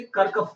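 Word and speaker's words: Kirchhoff: कर्कफ नाम होता है, नाम तो कर्कफ है, लेकिन फेमसली लोग किरचॉफ्स ही बोलते हैं, कि नहीं गलत प्रोनाउंसिएशन है, लेकिन किरचॉफ ही बोलते हैं, हम लोग भी उसको वही बोलेंगे, फेमस है.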